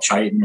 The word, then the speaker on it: chitin: The outer layer, they call chitin or chitin, depending on your pronunciation, it's exceptionally dense.